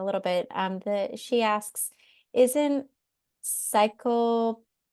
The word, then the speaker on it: cyanocobalamin: She asks, isn't cyanocobalamin, how do you say that word?